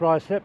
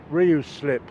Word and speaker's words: Ruislip: first of all let me explain that it's pronounced Ry slip I heard some people on the tube once call it Ryu slip which is completely wrong anyway this uh this